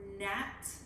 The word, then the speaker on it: gnat: All right, so our second sound is also n, but the GN makes the n sound, and the G is silent, and it comes in the beginning, middle, or end.